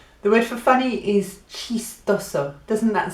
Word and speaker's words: chistoso: The word for funny is chistoso. Doesn't that sound nice? Chistoso. Sounds like cheese toast.